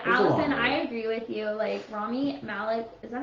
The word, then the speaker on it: Rami Malek: Rami Malek, is that how you say it, Rami Malek? Yeah, Rami Malek.